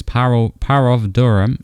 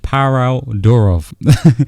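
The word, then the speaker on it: Pavel Durov: This is because Parov Durham, how do you say his name? Parov Durov.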